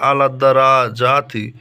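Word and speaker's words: عَلَى الدَّرَجَاتِ: এখানে উচ্চারণটা আলাদ্দারাজাতি।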